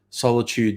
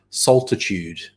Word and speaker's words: solitude: For years I used to pronounce solitude solitude, and I was sure I was right. I was sure that's how it was spelt, solitude, and it's not. It's solitude.